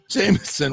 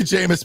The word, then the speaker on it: Jameis: Jay LaVine says J Jameson what a joke I that's part of the jamus magic is the people that still mispronounce his name like that still think it's Jameson Jameson that's so that's